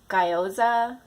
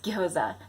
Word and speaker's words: gyoza: So many people say gyoza, but it's gyoza.